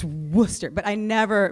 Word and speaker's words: Worcester: Elizabeth Bishop poem and I mistakenly pronounced Worcester Worchester don't you are from New England like its Worcester but I never mispronounced